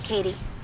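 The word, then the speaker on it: Cady: I'm Janice hi I'm Katie can't Li Janice's style is pretty cool like that that would fit today how do you spell your name again caddy it's Katie c a d y why can nobody pronounce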